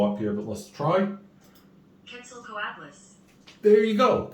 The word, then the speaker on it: Quetzalcoatlus: Quetzalcoatlus. There you go, Quetzalcoatlus.